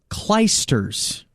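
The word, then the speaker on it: Clijsters: I'm sick I don't she's Belgian and it's pronounced kers thought there was another tea in there all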